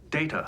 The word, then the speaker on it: Data: Data's name ended up being pronounced the way Patrick Stewart pronounced his name, a British pronunciation, which ended up cementing how a generation of people who'd seen the show would say that word.